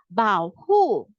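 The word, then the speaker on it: 保护: So 保护 is the protection. It will sound like Y-A-A-N, Y-A-H-N, 眼部 peekaboo, 眼部. And then the protection will be like 把 plus 熬保护.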